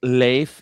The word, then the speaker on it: Leif: And there's social democrats which were the arch nemesis of the it's it's pronounced leif. Is it? I say leaf Ericson.